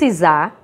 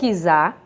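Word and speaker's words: czar: e o seu imperador os isar ou izar como pronuncia-se nas duas formas não olhava para o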